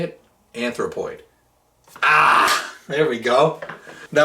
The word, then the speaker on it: Anthropoid: Anthropoid.